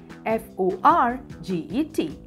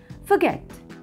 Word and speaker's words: forget: let's begin number one f-o-r-g-e-t don't say forget yes forget forget Tiani hula why do